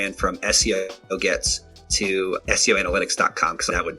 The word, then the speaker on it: Gets: They'll get like G-E-T, like people have to spell it. I was like, yes, Gets, Gets.